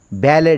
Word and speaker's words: ballet: For example, she is the best ballet dancer. Best BALLET, ballet dancer. Ballet, T is silent.